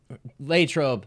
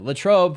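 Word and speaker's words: Latrobe: We're going to start in Pittsburgh because Lrobe, Pennsylvania. Latroe for those who are not familiar, but those who are locals say Lro.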